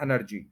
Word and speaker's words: एनर्जी: वह नहीं रहता है आप एन पर स्ट्रेस करें बाकी सारा वर्ड बिल्कुल ठीक रहेगा एनर्जी एनर्जी थ्री सिलेबल्स हैं फर्स्ट के ऊपर स्ट्रेस है एनर्जी इसको आप सुन